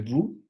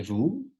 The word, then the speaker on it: vous: Et vous, en esa frase podemos encontrar otras dos, la T en E y la S en vous.